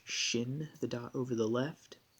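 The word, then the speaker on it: שִׁין: picture of a crown the dot over the right indicates that we pronounce it with a sh shin the dot over the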